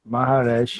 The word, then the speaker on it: Maharesh: Aí é Maharesh, Maharesh, Maharesh, né? Maharesh, Maharesh. Maharesh. Isso, é Maha é dificilzinho de grande, né?